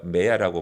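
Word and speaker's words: מאה: 100배라는 단어가 메야라고 발음하는데 메야. 요 중간에 빨간 표시 된 거 있죠?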